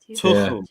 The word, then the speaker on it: Tuchel: Like I explained, the way I tried to explain it to English people is how you say James. You know, James Rodriguez. That sound at the start of James. That's how you say the TH in Tuchel. Tuchel, like that.